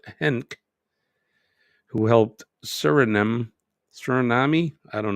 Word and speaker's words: Henk: In the year 2000, Surinamese politician Henk Aaron, not Hank, but Henk, who helped Suriname, I don't know how to pronounce it.